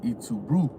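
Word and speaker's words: Et tu, Brute: With Julius Caesar, when they killed him, his last word was how you say it in Latin, "Et tu brute," right?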